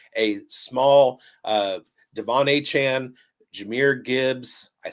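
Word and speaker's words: Jahmyr: This is putting him into a small uh Devon Chan, Jir Gibbs, I said it right that time.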